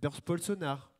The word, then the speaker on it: Polsenaere: Donc il y a un E, mais il ne se prononce pas, c'est Polsonard.